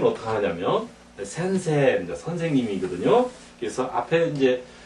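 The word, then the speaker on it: 先生: 선생님 할 때 센세, 세를 길게 하자 이죠.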